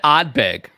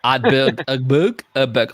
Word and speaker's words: Ardbeg: I said Ardbeg, by the way. Ardbeg. I didn't, as far as my Bogan Queensland Australian accent goes, I did not pronounce the second R this week, unlike in previous weeks.